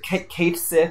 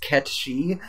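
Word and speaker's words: Cait Sith: Good old Kate Sith. It's actually pronounced Ketchy from Wait, Final Fantasy.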